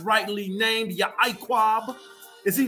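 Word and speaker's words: יעקב: And some people say Yacob, but we pronounce it in Paleo Hebrew, which is Yaquab. Now, there's some who pronounce the Ayan character, the E, so they'll say Yaquab.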